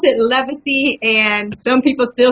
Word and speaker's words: Levisy: Well, my name is pronounced Leacy. L E V I S Y. And um for years I have I pronounced it wrong um because my foster family were telling me it's pronounced Levisi, but when I met my mom um when